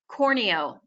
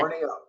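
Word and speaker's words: Corneau: If you think about, everyone has a cornea in your eye, but just put an O at the end of that instead. Corneo. So everybody, this is Brittany Corneo, staff attorney with First Supply.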